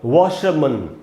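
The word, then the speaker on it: washerman: मैंने र नहीं लिखा, क्योंकि ब्रिटिश इंग्लिश में यहाँ पर आर का उच्चारण नहीं होगा, तो इसको वॉशरमैन र नहीं बोलना है अगर ब्रिटिश इंग्लिश में बोलना चाहते हैं। हाँ, अगर आप अमेरिकन इंग्लिश में बोलना चाहते हैं तो आप इस आर का उच्चारण कर सकते हैं।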